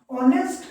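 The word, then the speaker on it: honest: ऑनेस्ट का मतलब होता है वह एक ईमानदार आदमी है। इसमें जो एच है आपका वो साइलेंट है।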